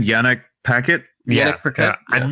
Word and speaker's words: Yannick Paquette: Yannick Paquette.